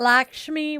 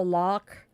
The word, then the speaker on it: Lakshmi: Yeah, it's not Lakshmi like a lot of people pronounce it. I try to go lock, but it could be Lakshmi. Um, Seahawks.